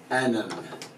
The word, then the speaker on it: anam: Even that means it's a vowel that you say but you don't write. Anam. It's like an I or maybe a U or an E or something. Anam. So it's two syllables even though it looks like one.